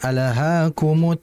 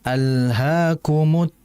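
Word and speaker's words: ألهاكم: Jangan memantulkan lam. Jangan alhaakumut takaturu. Jadi harus dialirkan alhaakumut takatur. Jadi hati-hati pada lamnya ya.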